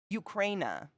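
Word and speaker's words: Україна: Ukraina is how you pronounce Ukraine.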